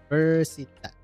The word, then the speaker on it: Universität: Universität. Pronunciation.